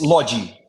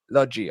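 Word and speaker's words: Lodi: player uh Ren and Lottie or is it pronounced Lottie or Logie how what's the correct pronunciation it's lodgy lodgy okay and energy how how did the Brazilians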